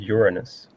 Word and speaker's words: Uranus: I think it's pronounced Uranus.